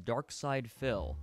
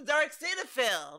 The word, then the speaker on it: Darkside Phil: I thought his name was Dark Cinephil because, like, look how it's spelled. But it's Dark Side Phil. Why is it with a Y?